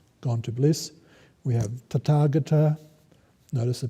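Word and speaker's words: Tathāgata: We have Tathagata, notice the pronunciation, means, has a difficult etymology.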